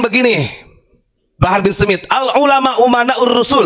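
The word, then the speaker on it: أمناء: Kemarin menyampaikan begini, Bahar bin Smith, al-ulama umana'ur rusul, tapi bacanya al-ulama amana'ur rusul. Saya katakan salah. Kenapa? Karena di sini umana, jamak taksir ya.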